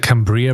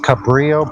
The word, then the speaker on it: Cabrillo: to there okay okay good uh you said Cambria Bridge yeah a Brio it's spelled c like okay okay cool hold on a second okay so it's called Cabrillo Bridge it's Cabrillo uh it's the Cabrillo bridge